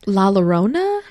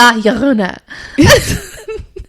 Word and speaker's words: La Llorona: The one I'm doing, have you tried to pronounce that one yet? La Llorona?